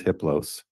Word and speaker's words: Hippos: a level four entity his name is hippos the H is silent the other three are